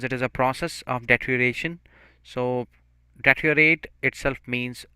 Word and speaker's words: deterioration: the next word is deterioration so a little difficult pronunciation it is but it's very simple if we are going to just cut it out data EO rate like then we we say deteriorate so but if it